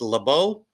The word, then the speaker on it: Leabu: how to spell or how to pronounce my name it's laau and uh I'm looking